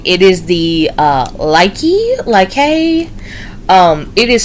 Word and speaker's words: Lykke: It is the Lyke. It is spelled Lykke.